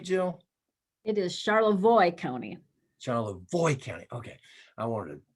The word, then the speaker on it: Charlevoix: uh is it charlevoix county um am i pronouncing that right jill it is charlotte voy coney void county okay i wanted to i